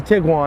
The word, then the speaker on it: Tiguan: i think it's a i think it's pronounced t-rong t-wong volkswagen utility vehicle i mean it's a sports utility vehicle but me knowing volkswagen this 2009 volkswagen tiguan it's a tiguan that's what it is big one yeah got